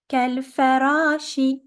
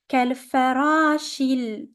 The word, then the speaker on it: كالفراش: So we're gonna pronounce it كالفراش. Ra is longer because of the alif. كالفراش.